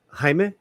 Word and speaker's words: Jaime: J is silent in the name. Jaime. Jaime. So it's H. Yeah. Jaime, which is kind of like Jaime.